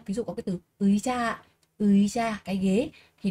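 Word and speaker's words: 의자: được đọc là y, nếu mà nó đứng trước thì sẽ đọc là ơi các bạn nhé. Ví dụ có cái từ ơi cha, ơi cha, cái ghế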